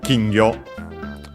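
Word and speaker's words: 金魚: it's literally goldfish uh kingo just with uh Chinese terms, Chinese readings of the kanji despite being a a Chinese compound is extent on the first syllable.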